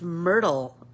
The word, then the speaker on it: Myrthe: believe her name is I looked it up online and it's um pronounced Myrtle which I don't know